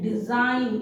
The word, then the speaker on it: design: फिर है word डिजाइन, DESIGN, डिजाइन। इसमें भी G साइलेंट है।